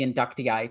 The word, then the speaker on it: Inductii: This is also the most common for the inductii to have as well. Yeah, for the inductee is how it's pronounced.